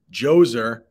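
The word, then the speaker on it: Djoser: did look that up it's basically the D is silent Jose at Sakara I do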